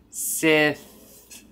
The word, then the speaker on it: Sith: If you start that word with the S sound, keep that I vowel, and you just move your tongue out the entire time you're pronouncing. Sith.